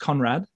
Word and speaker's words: Conradt: don't even know how to say your last name conrad is it just conrad yep it's just spelt strangely it's just it's just got it just to be complicated just a few extra silent letters so tara i've